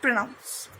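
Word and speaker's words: pronoms: Next हमारा topic है that is प्रोनाउंस, subject प्रोनाउंस। इसमें हम बोलते हैं ले प्रोनो सूजे। प्रोनाउंस नहीं बोलेंगे, इसको प्रोनो बोलेंगे। एम एंड एस R silent.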